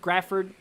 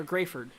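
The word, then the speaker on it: Graford: south of jacksboro uh north of grafford uh grayford sorry i know that uh i knew that that one dude i forgot who said that pronoun it was buck said uh pronounced grayford i had a feeling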